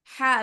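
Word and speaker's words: ح: মাঝখান থেকে আওয়াজটা আসতেছে আসবে হচ্ছে হলকের শুরু থেকে আপনি মুখটা বড় করে তারপর স্বাভাবিকভাবে হালি না এভাবে উচ্চারণ করুন হা হা হা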